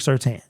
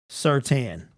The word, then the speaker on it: Surtain: Okay, so trade 2 first for Patrick Surtain. I don't know why is it Tane, but it's pronounced Tan.